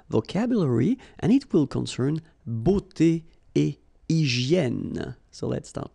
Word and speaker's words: beauté: Remember, we've got this combination of E, A, U here, of the vowels, okay? But then it will give you the sound O.